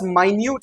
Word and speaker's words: minute: The expert's minute examination. ये minute examination, ये minute याद रखिएगा, spelling same होती है, homograph है, spelling same होती है, पर pronunciation different है.